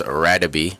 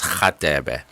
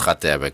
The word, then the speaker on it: Radebe: commentators call him Lucas Radebe. I'm sure a lot of you guys know it, but like South African, it's pronounced Lucas Khatebe. So that's what I knew him as, Lucas Khatebe, growing up.